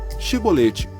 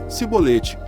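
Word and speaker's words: Chibolete: Então lhe diziam: Dize, pois, Shibolete. Porém ele dizia: Sibolete, porque não o podia pronunciar bem.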